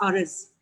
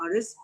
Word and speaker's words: Aris: It's Aris, the way I pronounce his name, Aris, because, I have the Urdu pronunciation of Z, not the. So it's erit actually, it's Aris.